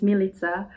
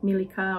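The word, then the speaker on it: Milica: it's quite interesting because my name is milita uh which is a really like maybe the most famous serbian name and nobody could really pronounce it in in in german schools everybody would say like milika or militia and i always felt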